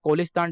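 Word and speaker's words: Cholistan: बात करी गई है चोलिस्तान डेजर्ट के बारे में। कोलिस्तान डेजर्ट बोल लो, चोलिस्तान डेजर्ट बोल लो, दोनों ही तरीके से प्रोनाउंस किया गया है।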